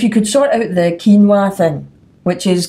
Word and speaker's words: quinoa: I think if you could sort out the quinoa thing, which is quinoa should be spelled Keenwa. It should spell it phonetically on the front of the package.